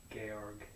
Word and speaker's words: Georg: And he's going to be able to tell me how to pronounce Georg in German. Georg.